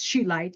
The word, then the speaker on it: Scheelite: it's called sheight and it is not spelled like it sounds it is spelled ch um and I did look up how to say it properly um because I I was didn't know how to say it so I looked it out because we have those abilities today so that's it and they say it's sheight even though you'd think